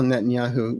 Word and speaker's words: Netanyahu: Amazing how Netanyahu rhymes with Yahoo.